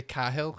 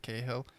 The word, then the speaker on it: Cahill: I say Cahill. I don't listen to anything, and just the stream last week just went mental because I said Cahill instead of Cahill.